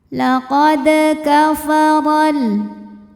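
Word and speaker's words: لَقَدْ كَفَرَ: Di sini ada hukum qalqalah sughra sebab ada dal yang sukunnya sukun asli. Maka ini dibaca dengan pantulan yang kecil. Laqad kafaral. Huruf ra dibunyikan secara tafkhim sebab ra berbaris fathah. Maka dibacanya tebal.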